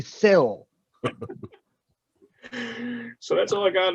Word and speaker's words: Syl: actually, he's still trying to figure out why we call him Sly, because his name is spelled S-Y-L, not S-L-Y. Seal. It should be Sil.